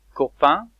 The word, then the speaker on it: copain: Copain, copain, with the un sound at the end.